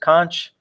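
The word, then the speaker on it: xonsh: talk on conch yeah it's spelled x-o-n-s-h but it's pronounced conch um it is a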